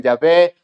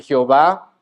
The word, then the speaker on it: Yahvé: Algunos lo pronuncian Yahvé, otros en una mala transliteración le dicen Jehová.